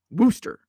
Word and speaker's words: Worcester: Wooster. It's kind of like, I think Wooster is like Louisville. Like it's the correct pronunciation is using as few syllables as possible.